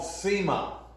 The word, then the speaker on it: Nsima: And this is called Sima. It's spelled Nsima.